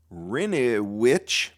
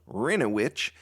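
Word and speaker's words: Hryniewicz: Rinowich, and that is spelled H-R-Y-N-I-E-W-I-C-Z, Rinowich, is running for a seat on the planning board after a year of deepening involvement in town processes.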